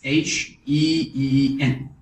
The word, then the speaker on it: 信: So for this 信, you make it into SHEEN, fourth tone.